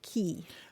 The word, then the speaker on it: quay: Yeah, it's an odd one, but Q-U-A-Y is usually pronounced key.